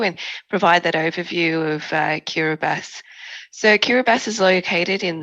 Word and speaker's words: Kiribati: And as you've probably noticed, the local pronunciation of TI becomes an S. So that's the background between the Kiribati and the Besso.